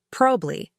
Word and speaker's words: probably: Instead of pronouncing it with all the sounds separated, native speakers say probably.